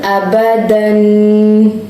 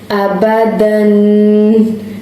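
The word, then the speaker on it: أبدا: Hamza, fatha, a. Ba, fatha, ba. Dal, two fatha, dan. How you will pronounce it all together? Abadan. Abadan.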